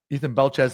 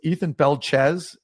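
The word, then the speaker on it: Ethan Belchetz: Ethan Belchez, that's how you pronounce it.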